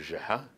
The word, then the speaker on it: Geha: with a familiar hello Mr Jihad giving my last name its Arabic pronunciation what really floored me